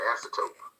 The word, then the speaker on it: asymptote: So looking at the graph, when we talk about an asymptote, that's how you pronounce the word.